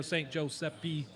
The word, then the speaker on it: Giuseppe: yeah, I like to tell people, say St. Joseph. Everybody knows who that is. And then just add an E sound at the end, and then replace the PH sound with a P. You know, St. Giuseppe, St. Giuseppe, you say it fast.